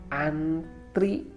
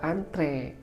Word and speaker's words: antre: tengah-tengah itu lalu selanjutnya kata antri sering kita tidak sadar akan kata ini atau pengucapannya seharusnya Oh iyalah antre begitu lalu satu lagi nih